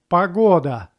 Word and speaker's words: погода: Another word, pagoda. Pa-go-da. Pagoda. This word has 3 syllables as well, but stress goes to second one and it will be pronounced like o.